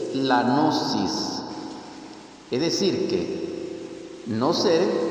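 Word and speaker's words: gnosis: Entonces, repito, la palabra literalmente descrita es g n o s i s. nosis traducido en griego es no ser y no ser más o menos pronunciado.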